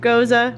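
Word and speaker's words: Gose: down a road less traveled with this passionfruit Goza we kettle and I'm pronouncing it right tells you just so if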